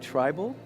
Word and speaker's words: Trible: Did I say the name wrong? You Okay. said it perfect. You said Trible.